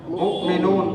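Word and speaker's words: مؤمنون: মুমিনুন। এই মুমিনুন লিখতে আসে কি? হামজা। এই নিচে কি আছে? ওয়াও। উচ্চারণ হবে কোনটা? হামজা। এখানে হবে মিম হামজা পেশ মু, মিম জের মি, মুমিনুন পেশ নু, মুমিনুন উচ্চারণ।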